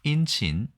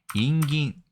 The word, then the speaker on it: 慇懃: 우리나라 은근, 중국어 인친, 일본어 인긴. 이거만 보아도 알 수 있겠지만 발음이 비슷할뿐만 아니라 같은 글자를 쓰고 있는 것을 알 수 있습니다.